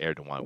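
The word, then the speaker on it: Erdoğan: of Justice and Development Party, and recap Tayyip Erdogan, that's how you pronounce it, Erdogan with that mark over the G.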